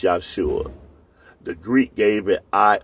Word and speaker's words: Yahshua: a h yua and it's going to be pronounced yua the Greek gave it